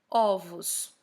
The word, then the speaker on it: ovos: No momento de pronunciar, a gente vai abrir o som desse O, tá? E vai ficar ovos, tá?